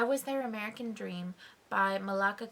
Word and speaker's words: Malaka: their American Dream by Malaka grieve or Malika sorry it's pronounced Monica but Monica Monica grieve and this one I